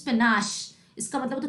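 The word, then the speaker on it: panache: What is the correct pronunciation? It इज पनाश.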